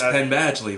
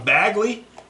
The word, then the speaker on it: Badgley: It's Penn Badgley. Very good. Oh, is it? Yeah. Okay. So I always called him Bagley, and then I called